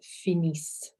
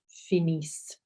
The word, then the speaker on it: finissent: So your NT is silent there, and kind of an E as well.